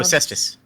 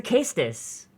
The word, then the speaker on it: cestus: the Roman boxing oh cestus why do you say it like that it's a it's a casus it's Latin there's no such thing as a soft sea that's true K yeah